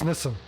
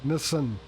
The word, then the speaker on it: Nissan: after that ironically it's americans are technically the only people outside of japan that pronounce this incorrectly no they don't it's nissan it's two syllables this and sin nissan look there's only one